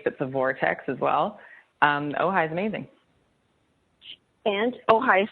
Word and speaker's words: Ojai: I am in Ojai.